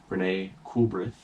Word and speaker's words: Renée Coolbrith: Renee Coolbreath.